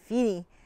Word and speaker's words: fiere: It's the old Scottish word for a friend, along with Joe. But in this poem, I pronounce it Fiere because it gives me more rhymes.